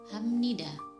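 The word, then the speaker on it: 합니다: untuk yang kedua adalah kata habnida seharusnya dibaca Rafly Da tapi yang benar dibaca Hamnida tulisan tetap cuma mengalami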